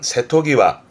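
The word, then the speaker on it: 瀬戸際: 요것도 중요한데 발음은 세토기와.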